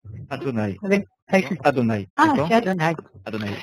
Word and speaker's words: Adonai: Alors, qui et le et, je ne vois pas comment le prononcer. Adonai. Avec Adonai.